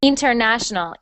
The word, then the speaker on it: international: stress on the na we put the stress on the syllable that is Na and also when you were reading I heard International inter and I just